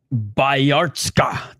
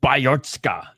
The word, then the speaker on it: Bayartsogt: Bayartsogt. That's how he pronounced it. Bayartsogt.